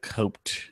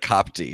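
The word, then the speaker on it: Kotb: agree that um Hoda coped I can't even pronounce it's like cop tea or something it's how it's pronounced okay she was like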